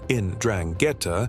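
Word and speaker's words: 'Ndrangheta: The Andrangetta, pronounced Indrangetta, isn't just another mafia group.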